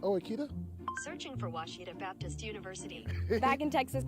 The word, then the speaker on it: Ouachita: here for you uh I've heard people say Oita oh a Oita is it pronounced Oita Sear for wasita Baptist University back in Texas everybody pronounces it